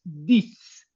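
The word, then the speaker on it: dix: La X final suena como ese solo ahí. Por eso el seis sis, por eso el 10 dis. Se pronuncian como S, se escriben como X porque así lo decidiaron.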